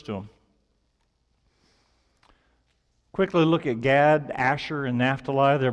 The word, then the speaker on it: Gad: to raiding and then GAD which rhymes with raid you can see their